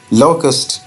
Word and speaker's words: locust: जैसे जी ओ हम कहते हैं गो, लेकिन वो कहेंगे गो। ऐसे ही बेटा यहाँ पे होगा लो, जैसे हम लो कहते हैं वही वाला लोकस्ट। राइट, तो ये जो इसका